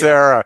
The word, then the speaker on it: Becerra: do you pronounce Javier correctly? Yeah, but he can't get Becerra. Yeah, Javier Becerra. Becerra.